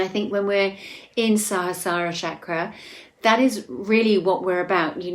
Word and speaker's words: Sahasrara: So that's pronounced Sahasrara, and it translates as the 1,000-petaled lotus, or the thousandfold.